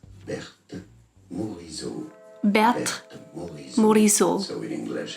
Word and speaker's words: Berthe Morisot: In French it is said as Berthe Morisot. Berthe Morisot. So in English it'd be fine to say it as Berthe Morisot.